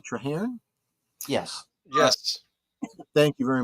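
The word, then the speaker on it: Traherne: rod and alen um TR how is that pronounced trar t r a h r n trar yes yes thank you very much in his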